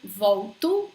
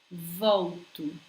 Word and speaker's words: volto: When you have L in this position, between a vowel and a consonant, you're probably gonna pronounce this just like U, a soft U. Volto, volto.